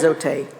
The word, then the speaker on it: Zote: Okay, so either Zoti or Zote. No, it's Zote because Zote would actually have like little thing above the E. Fair enough. Zote.